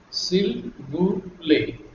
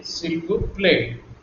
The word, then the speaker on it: s'il vous plaît: See, I'm not pronouncing this S or the T in the play. That is so because in French, whenever a word ends with a consonant, it is silent. Also, see here we have A and I combination letters. Whenever there is combination of letters A and I, it is pronounced like A.